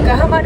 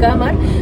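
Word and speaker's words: Gahmar: এবার ইউপির মধ্যে এখানে জি এ এইচ এম এ আর গাহামার এরকম টাইপের একটা উচ্চারণ গামার বলে একটা স্টেশন ক্রস করলো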